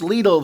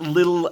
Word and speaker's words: Lidl: lidl and it's pronounced lethal the eye is pronounced e as in most european religions or languages etc um it's not little as the british say and other things and